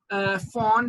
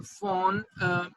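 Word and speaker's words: von: अच्छा जी, सबसे पहला जो सिंड्रोम है that is फॉन हिपल लिंडाउ disease. फॉन हिपल लिंडाउ disease, इसको हम VHL भी कहते हैं। वॉन वैसे V से है बट जनरली हम इसको फॉन प्रोनाउंस करते हैं।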